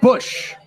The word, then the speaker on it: Busch: George Bush. W. No, different spelling. W. Honestly, it could be an heir to the Bush, beer company. Who knows? It's spelled like that. B-U-S-C-H.